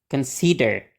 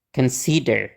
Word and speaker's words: consider: lebih mantap oke ee melanjutkan continue continue mempertimbangkan Consider Consider nah yang terakhir mengontekstualisasikan contexization contexization oke nah